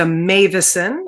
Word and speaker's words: Meuwissen: Hi, I'm Amanda Meuwissen. I know that's not at all what my name looks like, but that's how you pronounce it.